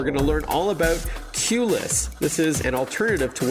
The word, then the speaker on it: QLess: For our listeners, QLess is spelled the letter Q, L-E-S-S, but a cute play on words, of course, as you're all about reducing the need for a queue or a lineup, as we say here in North America.